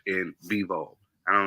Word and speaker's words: Bivol: Well, what people would say, what's his Beterbiev and Bivol. That's the right pronunciation of their name. I say Beterbiev and Bivol.